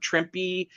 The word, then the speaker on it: Trimpe: But of course, you know, Trimpe is I don't know whether I'm pronouncing that right. It is Trimpe.